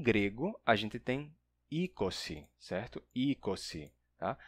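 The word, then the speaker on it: εἴκοσι: Tem pessoas que pronunciam erroneamente como e, certo? Isso daqui em grego não é ei, tá? Ou você pronuncia como i, ou numa pronúncia mais antiga pode se pronunciar como um e, um e longo e fechado. Ese ou então mas jamais como e tá?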